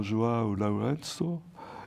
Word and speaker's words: João Lourenço: C'est la visite du président João Lourenço. Et c'est pour... J'ai bien prononcé?